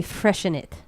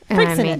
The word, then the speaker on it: Freixenet: I think it's actually supposed to be freshen it. Oh. Freshen it. But it says, I mean, obviously it's like Freixenet. I mean, Freaksinet.